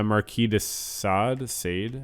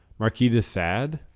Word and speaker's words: Marquis de Sade: Famous in France, we would say it as Marquis. Silent S here. Marquis. De Sade.